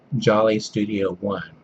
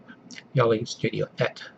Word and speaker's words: jollestudio1: But he's in Sweden, his videos are in English, and well, Americans might pronounce his channel name Jolly Studio 1, but it's actually pronounced Jolly Studio Et, if I remember correctly.